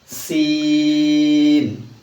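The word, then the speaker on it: سين: সিন। সাইকেলের pump চলে গেলে এরকম একটা আওয়াজ হয়। সিন সিন।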